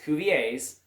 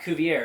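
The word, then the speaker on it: Cuvier: Again pronounced kovvier not kovier because remember George is kovier father of paleontology French guy.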